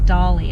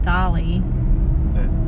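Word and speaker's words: Dalí: Well, first of all, I didn't say Dolly. I said Dali. D-A-L-I, not D-O-O-L-Y. I know, people have accents. I do have an accent, so. Okay, the Salvador Dali Museum.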